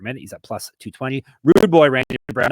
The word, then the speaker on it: Rude Boy: 46 strikes per minute he's at plus 220 Rude Boy Randy Brown not Rudy Randy Brown is call you he actually messed